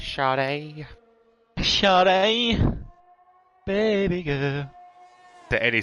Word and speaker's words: Sade: Say his name right, man. It's Sade.